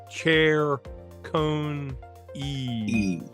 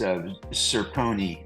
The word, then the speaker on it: Ciccone: I was really told it's Chair Cone E.